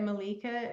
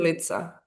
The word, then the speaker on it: Milica: Do you say it Malika? Is that how you pronounce it? Milica.